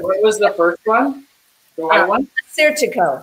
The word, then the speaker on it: Assyrtiko: Assyrtiko. That one's easy to remember. It's like assertive. Assyrtiko.